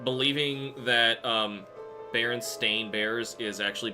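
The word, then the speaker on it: Berenstain: Uh, it's like believing that um Baron Stain Bears is actually Baronstein Bears because that's how everybody pronounced it even though that's not how it's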